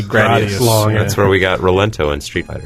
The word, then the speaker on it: Rolento: His name is supposed to be like Lawrence or Laurent. Put the L's and the R's. But got Rolento sounds like sounds like a credible Italian name.